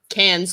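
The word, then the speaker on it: Cairns: also went up to how do you say it can cans like like a drink can can so she went up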